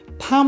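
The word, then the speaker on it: thumb: মাথায় রাখতে হবে যে এম এর পরে যদি কোনো বি থাকে তাহলে বিয়ের উচ্চারণ হবে না তাহলে এটা দাঁড়াচ্ছে কি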